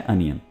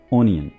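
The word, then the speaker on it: onion: प्याज की इंग्लिश है अनियन, ना कि ओनियन।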